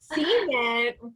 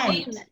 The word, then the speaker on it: cement: So if someone said cement, I would know what that was. But where I'm from, we say cement. Oh. Oh, I wow. say cement.